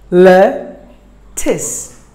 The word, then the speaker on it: lettuce: were number 5 lettuce lettuce 2 syllables the stress falls on the first syllable lettuce lettuce lettuce word